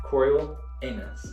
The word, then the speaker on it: Coriolanus: Coriolanus. Just think anus.